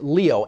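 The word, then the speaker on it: lío: said one word and in Spanish it's Leo l-i-o which might be a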